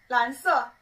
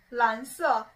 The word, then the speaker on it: 蓝色: Anyway, 跟我读, 蓝色, 蓝色, 蓝色.